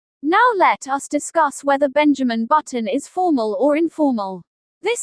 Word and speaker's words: Benjamin Button: Benjamin is pronounced as Ben-ju-min. Button is pronounced as But-t-n. Benjamin Button.